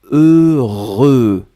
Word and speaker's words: heureux: Le premier son c'est E et le deuxième son c'est R. Vous allez voir après que vous avez E, R, E. Le E, vous le prononcez deux fois. Heureux.